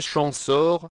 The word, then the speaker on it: Champsaur: tubon vers 710 champsor on prononce en français chanson en occitan Vivaro alpin en psau et la haute vallée